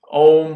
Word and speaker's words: Om: human being can make when you say a a m is how om is spelled you're you see it spelled om but the letters are a m so uh say uh